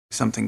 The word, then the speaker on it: something: something big something big something big it's not something some it's not stressed it's something something I would write that sah and some s s